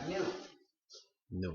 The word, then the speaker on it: gnu: es mucho mejor porque según el diccionario la g es muda y la palabra se pronuncia New que significa nuevo entonces